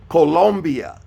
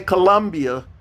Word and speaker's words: Colombia: the clock uh Venezuela Colombia don't say Colombia Colombia that's a o colia okay I know we've been uh pronouncing it differently in in the United States of America but it's Colombia then you go to